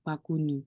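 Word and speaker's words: 바구니: Terus lanjut, ini B, B, terus ini A, ini G, U. Jadi bagu, ini N, ini I. Berarti baguni, seperti itu.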